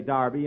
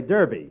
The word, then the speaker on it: Derby: Darby last Saturday bill that's Derby the English say Darby and the Americans say Derby yeah and the losers